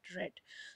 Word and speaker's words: read: she read okay so spelling is same as read only but just pronounce it red social red too much